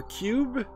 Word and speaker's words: Q.U.B.E.: today we're looking at q-u-b-e or cube it's spelled Q period U period b period E Period uh it's supposed to